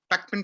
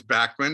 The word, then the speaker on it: Bachman: live that kind of in england it's real quick it's beckman turner overdrive in canada it's bachmann and the states is